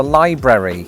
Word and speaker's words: library: I think you know it's called a library. At least it is if you're sounding out every syllable within the word.